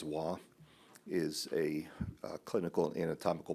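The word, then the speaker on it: Hua: Waugh, it's pronounced H-U-A as Waugh, is a clinical and anatomical pathologist.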